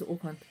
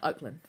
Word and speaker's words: Auckland: And then he pronounces Auckland. Girl, I cannot find a video of him saying Auckland anywhere. I'm still researching it. But he says Auckland like Oakland.